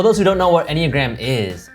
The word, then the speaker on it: Enneagram: You talk about taking an is that how it's pronounced? Enneagram? Enneagram.